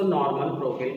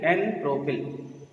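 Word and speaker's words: n-propyl: नॉर्मल प्रोपिल में कभी भी नॉर्मल स्पेलिंग लिखने की कोशिश मत करिए, एन लिखिए, एन प्रोपिल। बोलिए नॉर्मल, लिखिए एन, यानी नॉर्मल लिखना नहीं है और एन बोलना नहीं है, एन प्रोपिल ना, नॉर्मल प्रोपिल।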